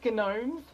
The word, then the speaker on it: gnomes: Isn't it funny how they're called, like, gnomes and the G is silent, but it just looks so funny spelled? It's gnomes.